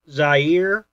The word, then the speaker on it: Zaire: between Muhammad Ali and George Foreman oh construction Zaire um yeah you pronounced that right yep um uh pardon me